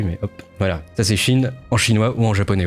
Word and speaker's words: qi: Ça se prononce chi, mais moi je dirais qui parce que j'ai la flemme.